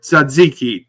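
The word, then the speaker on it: tzatziki: asking he thought you said zucchini sauce no sadiki tza a TZ a Ki have you ever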